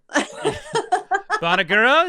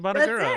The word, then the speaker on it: Bonagura: Bonagura is the right way to say it, right? Bonagura.